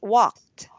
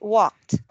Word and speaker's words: walked: Ed is pronounced as t.